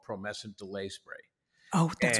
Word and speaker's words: Promescent: And the thing he has is called, it's called Promescent. Did I say it right? You said it exactly right. Thank God, Promescent.